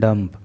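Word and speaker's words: dumb: With A deaf and डम्प। Deaf and डम्प का मतलब होता है, यहाँ पे जो बी होता है ना वो साइलेंट होता है, इसको डम्ब नहीं बोलते हैं, इसको डम बोलते हैं।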